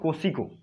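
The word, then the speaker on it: Kosciuszko: है उसका नाम है माउंट MT, लिख सकते हैं आप, KOSCUISKO, माउंट कोसिको, लेकिन इसका स्पेलिंग ऐसे है KUSCUISKO।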